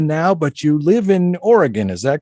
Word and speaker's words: Oregon: You're in Arizona now, but you live in Oregon. Is that correct? I do. I live in Portland. Yes, I actually grew up in Chicago, born in Seattle, grew up in Chicago, and moved out to Oregon in my last year of high school.